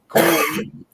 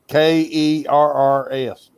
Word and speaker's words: Coors: Hillbilly down here, we say it like Coors. Like, Cores. Like, you know, when you buy a battery, you got to take the old one back to get your core charge back.